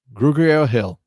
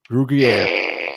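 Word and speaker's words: Grugier-Hill: Grugier Hill. Grugier. Like part French, part not. There's nothing silent about that.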